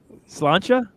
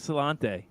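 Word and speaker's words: Sláinte: How do you say it again? I've already forgotten how to say it. Slancha. Slancha. There you go.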